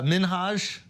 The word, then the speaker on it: Minhaj: comes up about our boy Hassan Minaj uh minhaj minhaj I think yeah how do we even